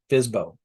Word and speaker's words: FSBO: homes for sale by owner, or FSBO, often pronounced FSBO.